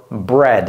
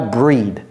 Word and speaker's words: bread: appuyeer sur le D need for bread c'est pas breed breadok elle pétrit la pâte